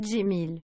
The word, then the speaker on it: Cemil: Oh purée, ça se prononce Jimil.